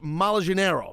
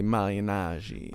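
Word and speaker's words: Malignaggi: about the Mayweather fight paully Mal Janeiro I say right come on say it right poly malagi PA malagi H I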